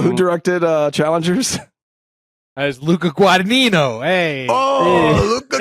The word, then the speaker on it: Guadagnino: As Luca Guadagnino. Hey. Oh, Luca Guadagnino.